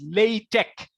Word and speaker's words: LaTeX: Actually, it's pronounced as LaTeX. LaTeX, as you saw in the uh, bridging slide. LaTeX. This is how people are pronouncing LaTeX. And there is another pronunciation is also there, but I prefer this one, LaTeX.